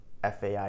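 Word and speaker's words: faim: French are you hungry know that fa f a m is pronounced as fa and mon Monica and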